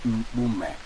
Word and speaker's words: Mpume: My name is Mpume. Look at even how it rhymes with your own name, Mpoloma.